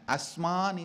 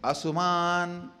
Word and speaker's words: asmān: Understand, Asman is the original verse. The part of Etam is Asuman, the of U.